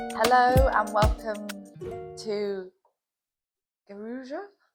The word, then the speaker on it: Guarujá: Hello and welcome to Guaruja? Guaruja? No, you pronounce the J. Guaruja? Welcome. Hello from Guaruja.